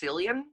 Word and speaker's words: Cillian: But also just, and also I think it's pronounced Cillian. Really? Yeah, I mean, I actually... No, I don't think that's true. Okay, well, anyway. Because Irish people have the hard C.